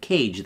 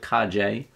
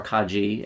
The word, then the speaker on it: Kage: he was actually right this is how to pronounce it kaje um or Kaji and that's Japanese for